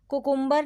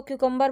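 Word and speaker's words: cucumber: प्रशिक्षण विमान होती है कुकुंबर नहीं अबे कभी भी इसको क्यूकंबर बोला जाता है कुकुंबर का यूज नहीं होता यह गलत ना उन्हें ऑप्शन है नेक्स्ट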